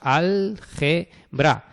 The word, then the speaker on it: álgebra: Por ejemplo, la palabra árabe álgebra. Tenemos tres sílabas, álgebra. Y al es la tónica, álgebra.